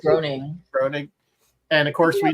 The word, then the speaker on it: Groening: I always pronounce his name wrong. Groening. I say Groening.